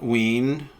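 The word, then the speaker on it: Wein: is written by Len ween I I imagine that's how you pronounce it like you know the band ween and uh the first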